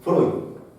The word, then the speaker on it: Freud: Su nombre es Freud. Freud, vamos a anotar acá, Freud, se escribe Freud, ¿ya?